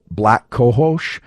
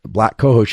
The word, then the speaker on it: black cohosh: moment, of something like black cohosh. I think that's the correct pronunciation. It's literally the word black and then COHOSH.